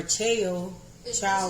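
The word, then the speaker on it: Chao: We're going to use, I chopped up some slices, little pieces of the chow cheese, or chow, one of them.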